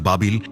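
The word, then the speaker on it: بابل: প্রাচীন ব্যাবিলনে আগমন করেছিলেন আরবি উচ্চারণ বাবিল ইরাকের রাজধানী বাগদাদ থেকে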